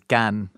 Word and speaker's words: Cannes: And some people are like, no, it's con. And I'm like, no, the French vowel sounds are just different. There's no proper, the only way to pronounce it is in French, which is Cannes.